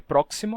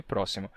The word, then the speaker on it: próximo: Bem, aconteceu que em máximo e próximo, a gente perdeu esse som do k, ficou máximo e próximo.